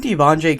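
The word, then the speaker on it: De'Vondre: I've seen Devondre Campbell, that's how you say his name, go to Superstar X Factor a few times.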